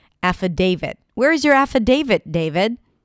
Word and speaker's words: affidavit: The first sound is a as in cat. Then we have fu. Fu fu an f sound and then awah. The spelling in the spelling you'll see the letter I but it's actually awah sound. A then day. That's the primary stress. Affidavit. It's like David but with a T.